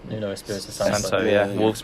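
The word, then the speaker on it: Nuno Espírito Santo: Nuno Espinino. What's his name? Nuno Espirito Santo.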